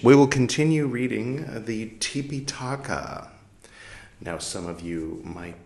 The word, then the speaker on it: Tipiṭaka: you might be thinking why is he pronouncing trepa in such a strange way tipa is the original name uh that's poly language Trey talk as Sanskrit there you go uh both